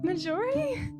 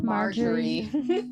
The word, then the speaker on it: Marjorie: Majority. I think that's Marjorie.